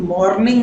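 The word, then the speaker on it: morning: मॉर्निंग कह सकते हैं याद रखिए आपको गुड मॉर्निंग नहीं बोलना है यहां पर र साइलेंट रहेगा मतलब आर का उच्चार आपको कम करना है या फिर नहीं करना है आप आर की जगह पर अ बोल सकते हैं यहां प है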